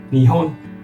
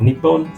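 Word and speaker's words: 日本: where more instance where this one is spell にほん but here in this example sentence it is spell にっぽん so just know that there is another more prevalent pronunciation for this word out there yeah okay so like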